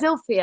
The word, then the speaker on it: Zilpha: It's spelled Zilpha. I don't but they like said it. It's Zilphia. I don't like it.